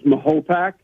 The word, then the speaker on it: Mahopac: it one other time it depends on your age group that you're in in carmel um you know the the folks that have been here for many years such as myself uh we believe the proper pronunciation is mahopac but those folks that